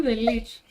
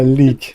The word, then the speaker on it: lich: You didn't know how to pronounce the Lich. A leak, yeah, Lich, exactly, that's the one.